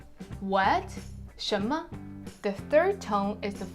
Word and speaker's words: 什么: Chinese it's tion-tion-tion ma so a second tone plus the neutral tone what shimmer what shimmer the third tone is